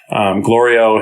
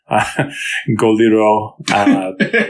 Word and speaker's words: Glorio: It's a cool scene in terms of like character where Glorio has been being sort of annoyed at Goku mispronouncing his name for a long time. Goliro, you know, and, it's a funny gag, yeah.